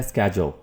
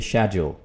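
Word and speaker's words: schedule: तो पहला वर्ड हमारे पास है स्केड्यूल, राइट। अमेरिकन इंग्लिश में अमेरिकन जो प्रोनाउंसिएशन है, तलफ़ुज़ है, उसमें ये बोला जाएगा स्केड्यूल, स्केड्यूल। और ब्रिटिश इंग्लिश में इसको बोलेंगे शेड्यूल, शेड्यूल, ठीक है।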